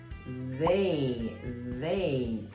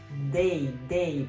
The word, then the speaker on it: they: Quando você pronuncia palavras com TH, a língua não toca o céu da boca. A língua sempre toca a parte de cima dos dentes, atrás dos dentes, tá? Então não é day.